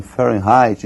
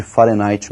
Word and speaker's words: Fahrenheit: Para eles lá eles pronunciam Fahrenheit e nós vamos pronunciar aqui do modo aportuguesado, ou seja, nós vamos falar de Fahrenheit mesmo.